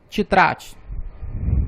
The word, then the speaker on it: тетрадь: Portanto, a pronúncia тетрадь. Uma curiosidade, a última letra D ela vai pegar o som da letra T, mas isso faz parte do estudo das consoantes, nós veremos no próximo vídeo.